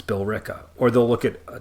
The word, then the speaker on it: Billerica: But like, just to give an example, there's a town called Billerica, and the way that it's spelled is Billerica. And so a lot of people see it and think it's Billerica. It's not, it's Billerica.